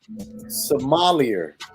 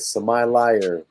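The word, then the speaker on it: sommelier: called the water somalia it's 12 s-o-m-m-e-l-i-e-r i'm sure it butchered it so my liar ah semi-lighter so maybe it's maybe it's french maybe it's somebody yeah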